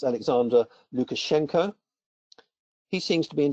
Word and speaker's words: Lukashenko: Belarus president and I think his name is pronounced Alexander Lukashenko he seems to be in denial he refuses